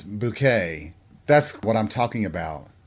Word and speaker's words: Bucket: Her last name was Bucket, but she insisted that it was Bouquet.